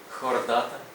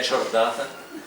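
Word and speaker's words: Chordata: здається дуплікат маю так комбінація с вимовляється як ха Це Ви добре знаєте хероптера хордата хеліцерата хіроптера хордата хеліцерата Не чайроптера не чордата і не челіцерата будь ласка ть англійці і американці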